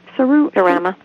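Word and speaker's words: Serama: Cerama.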